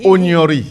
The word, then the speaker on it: Onyori: Le nom Onyeri là. Onyori. Ah, c'est comme ça qu'on prononce Onyori, ça.